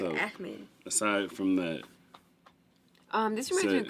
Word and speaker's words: Ahmed: I would have said Ahmed, but that's clearly the wrong pronunciation. Right. Okay, It's like Ahmed.